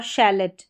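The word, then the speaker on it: chalet: सी एच को श जैसे कि यहां पर शेफ क्या है? शेफ और शेलेट।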